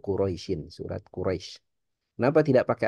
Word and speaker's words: Quraisy: Nah jadi enggak boleh kita bacanya surah Al-Quraisyah ituak itu keliru ya. Tapi suratu Quraisyin.